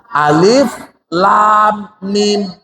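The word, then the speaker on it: الم: Alif lam mim. Kita membaca asmaul huruf, nama-nama hurufnya yang kita sebutin. Karena memang Rasulullah begitu.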